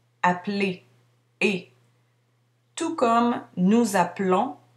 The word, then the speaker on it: appeler: Par contre, lorsque je dis le verbe à l'infinitif, je prononce la terminaison, appeler, et.